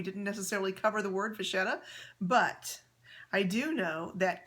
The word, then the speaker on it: Vachetta: So if I'm looking at it from an Italian point of view, it would indeed be Vachetta, but this is a French company, and I did a little bit of research.